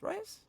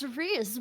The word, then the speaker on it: Riaz: And last but certainly not least, Essie playing, I keep forgetting, Rias? It's Riaz, man.